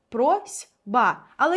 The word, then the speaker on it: просьба: пишеться з літерою с прось б але як ми його вимовляємо просьба просьба чуємо звук з чому так відбувається ще